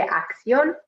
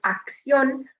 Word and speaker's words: acción: Make sure for saying acción, that you're saying acción and not like acción. That's what I kind of, Spanglish pronunciation I sometimes hear from my students. So make sure that when you have a word that ends with C-I-O-N, that you're saying ción and not shion, like we would say it in English.